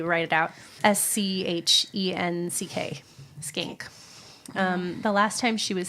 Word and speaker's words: Schenck: I had to phonetically write it out. Schenck. Skank.